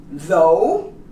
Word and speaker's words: though: Also, with G, here, these words, for instance, that have a GH, like these, though, you don't pronounce the G.